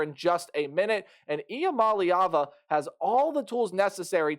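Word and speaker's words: Iamaleava: for Tennesse in 2024 Nico IAM malava that is how you pronounce that last name and if I'm wrong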